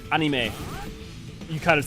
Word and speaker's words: anime: by him yes technically many people still pronounce anime wrong well like yes anime would be technically more correct but um May I mean yeah because you should be ah instead of eh but like that one's